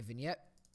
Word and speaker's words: vignette: then you can go to lens add a vignette yes that is how you pronounce that it's vignette you can go ahead